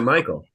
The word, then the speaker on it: Mikhail: But I think he pronounces it Michael. Well, that's just confusing. I'm pretty sure that Michael Foy is how he pronounces it.